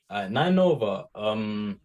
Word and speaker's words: 9NOVA: Nine Nova is the name, right? That's how it's pronounced.